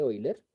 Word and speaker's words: Euler: número de hoy left se escribe euler pero se dice hoy leer y está aproximadamente igual